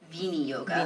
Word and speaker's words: viniyoga: We just say viniyoga. Right. Which is not from, as we always have to say, it's not from some dude in Brooklyn. It's not Vinny.